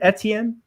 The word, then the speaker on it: Etienne: For me, the running backs, it's Najee Harris, it's Travis Etienne, or however you want to pronounce it, and Javonte Etienne. Williams. It's Yeah, Etienne. he's Etienne.